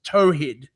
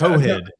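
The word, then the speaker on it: tawhid: And apparently it's pronounced tohid. It's tohid to is tohid better than to talhed.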